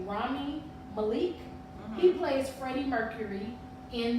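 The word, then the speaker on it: Rami Malek: was Queen of maleeni arrest and I wanted pronounce his name correctly Rami Malik he plays Freddie Mercury in the movie and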